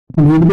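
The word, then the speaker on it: read: रीड ही है इसको, और हम इसको प्रोनाउंस क्या करते हैं, रेड, है ना, रीड, रेड, रेड।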